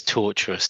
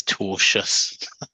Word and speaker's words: tortious: Just to jump in, sorry to be the pedant here, although it is torturous doing this line of work, it's tortious. Tortious.